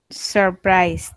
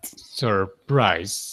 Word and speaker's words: surprise: So, surprise is very similar to purple. They both have the U, but the pronunciation is not U or O. The pronunciation is like surprise.